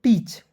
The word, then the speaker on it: teach: मैंने आपको बताया दोस्तों EA साथ में रहता है, तो कभी कभी दोस्तों एक मतलब वोवेल इसमें साइलेंट हो जाता है, ठीक है, और कभी कभी EA साथ रहता है, उसका उच्चारण बड़ी ई के रूप में करते हैं, ठीक है, याद रखना है।